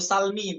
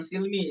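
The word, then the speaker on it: السلم: lanjut 77 oke fausin Ya itu Salmi bukan Silmi ya ada di surah yang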